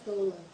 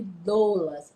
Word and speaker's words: doula: Esse é outro aprendizado que nós vamos ter no curso de capacitação das doulas.